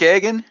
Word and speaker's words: Agin: Agin is not right. It's Agin. How did you say it? Agin, yeah, Agin, hard Agin. G. Agin. Okay, Hard G.